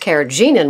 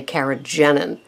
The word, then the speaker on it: carrageenan: I've heard it pronounced keragenan which would make sense because there's two e but most of the most of the experts say kagenine and so um in